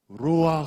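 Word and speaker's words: רוח: 히브리어로 루 아 아 루와 카 아 좀 가래가 끓어 야 됩니다 이것은 한번 해봐요 씨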